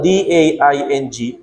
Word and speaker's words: Daing: Yung Daing ko, D-A-I-N-G, Daing. As in, Daing ba? Yung Daing. Pero ang bigkas namin, Daing.